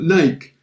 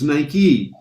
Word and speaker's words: Nike: us in north america we would have called it nike because it because it looks like like right or mike but it's nike after a while they